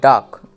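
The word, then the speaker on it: duck: এই সি আর কে এই সি এর পরে যদি কে আসে তাহলে সিটি সাইলেন্ট থাকে অর্থাৎ সি এর উচ্চারণটা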